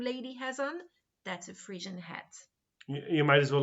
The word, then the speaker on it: Phrygian: It is a Frisian hat. Frisian here is spelled Phrygian, in case anyone wants to look it up. It's not a very easy spelling.